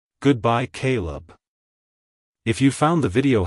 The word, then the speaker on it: Kaleb: pronounced as Caleb Caleb Caleb to pronounce it correctly emphasize the first syllable k y and pronounce the second syllable Leb as in lemon like hello Caleb goodbye Caleb if you found the